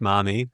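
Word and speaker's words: Marmee: Maybe you should start calling your mother Marmy and she says The thing is they would never pronounce the R. So maybe it is just mommy.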